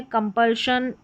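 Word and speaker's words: compulsion: बताएंगे जहां पर नियम नहीं चलते तो वह स्पेलिंग्स भी आपको मिलेगी तो यहां पर यह है कंपल्शन एक्सपशन यहां पर है प्रोपशन प्रोपल्शन या फिर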